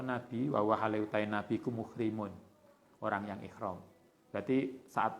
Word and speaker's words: muhrim: Wah tajama lan pernah bekam sapa nabi wa halautai nabi ku muhrimun, orang yang ihram. Berarti saat ihram itu boleh bekam. Karena Nabi pernah muhrim ya bacanya, bukan mahram.